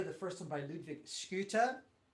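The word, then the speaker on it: Schytte: and a couple of interesting pieces here the first one by ludwig scooter which is actually how you say it scuta i know we all say shite or shitta which is really unfortunate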